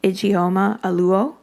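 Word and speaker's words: Ijeoma Oluo: talk about race and forgive me if I'm mispronouncing the the name but I believe I am getting it igoma aluo i j e o m a for the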